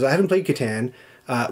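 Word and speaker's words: Catan: my case for that yes it's pronounced pronounce katan i refuse i refuse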